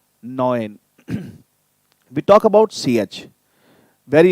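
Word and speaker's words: neun: um as in busha is going to be pronounced as oy as in boy or toy okay so i like we have our number nine noin noin we talk about ch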